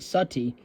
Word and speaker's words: Sati: the ritual of Sati often written uh uh s a t but also s u tte e uh pronounced Sati which encouraged the wife